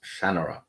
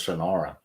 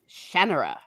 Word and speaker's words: Shannara: but terry brooks says shannara okay so i i always thought it was shanara but it's general yeah okay well there you are so with the emphasis on the ah shannara um by terry brooks